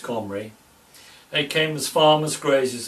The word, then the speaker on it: Cymru: Later, around 650 BC, descendants of King Omri, king of Samaria, in Celtic Cymru is still pronounced Comri, they came as farmers,